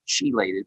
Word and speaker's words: chelated: So we use chelated minerals, CHELATED is the way it's spelled. It sounds like chelated, but it's called chelated minerals.